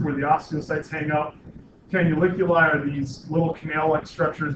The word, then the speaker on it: canaliculi: that word is pronounced canaliculi, and it kind of sounds like can I lick your eye?